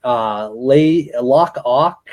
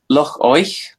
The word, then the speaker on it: Loch Oich: We've talked about Loch Ock and Loch Loki. Probably butchering that. Yeah, so that's Loch Oich and Loch Lochi.